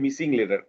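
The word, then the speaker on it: muscle: আচ্ছা, পরেরটাতে দেখি আমরা, fill in the missing letter, fill in the blank with the correct silent letter.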